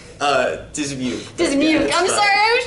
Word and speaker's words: Dismuke: Rachael Ward from Animation for Adults here with Aaron Dismuke. It's pronounced Dismuke, right? Dismuke.